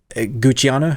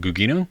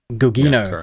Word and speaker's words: Gugino: But for me, Gucciano, how do you pronounce her name? Gugino, I think. Gugino, yeah.